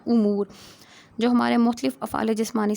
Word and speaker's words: امور: اس کی جمع امور، الف کے اوپر پیش ہے، یہ تلفظ آپ نے بالکل درست بولنا ہے، امور نہیں کہنا، امور، جو ہمارے مختلف افعال